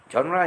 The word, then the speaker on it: genre: Genre is a French spelling because you don't have the pronunciation of the G that is there. It sounds like a J out there.